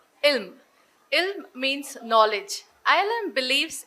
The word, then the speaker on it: ILM: children for these children when pronounced sounds as ill ill means knowledge ilm